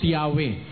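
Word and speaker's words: Yahweh: O po ang sabi dito o po while it is almost if not quite certain that the name was originally pronounced yahwe.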